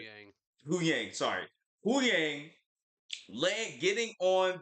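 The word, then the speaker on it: Huyang: Horang, Yu right? Yang. Hu Yang, sorry.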